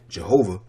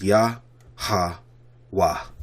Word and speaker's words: Yahweh: Jehovah. The proper pronunciation is Yah Ha Wah.